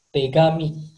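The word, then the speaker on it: 手紙: Di bahasa Jepang, Kalau di bahasa Jepang, cara bacanya tegami.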